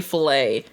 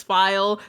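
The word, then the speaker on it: Phile: Because I say filet. I'm like, is this file? So yes, it is file.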